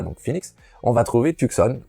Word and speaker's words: Tucson: Phoenix, on va trouver Tucson, ou qui se prononce Tucson, et qui se trouve